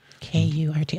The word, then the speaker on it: Kurt: K-U-R-T. Okay. Mm-hmm. How would you pronounce that? Kurt. Yes. His dad was German, so it's Kurt.